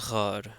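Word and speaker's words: ⲅⲁⲣ: So here we have an example of the gamma actually being pronounced as a r sound. So in this case, this is ghar.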